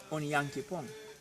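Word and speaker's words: Onyankopɔn: And for example, if we say Yankee Pong, in Ghana they are going to tell you on Yankee Pong. This is a proper pronunciation.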